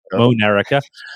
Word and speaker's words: Monerica: like America, but Monerica, Ah, M-O-N. Yes, just sound it I out. see. Yep. Monerica.